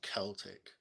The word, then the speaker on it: Celtic: the word the word Celtic cuz the language is like Kelts like Braveheart Kelts and Celtic but the it seems like they pronounce the football team like Celtic which is weird isn't it?